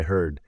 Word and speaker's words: heard: Yesterday I heard. So the vowel sound changes.